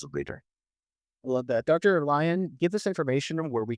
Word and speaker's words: Lion: So I am available on LinkedIn and so look me up and last name spelled like lion L I O N or and then L I O N.